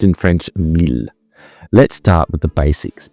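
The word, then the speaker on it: miel: Honey is pronounced in French mil. Let's start with the basics because well, why not? Honey in French is pronounced mil as I just said and spelled m i e l.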